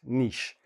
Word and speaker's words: niche: This is how it's pronounced, niche.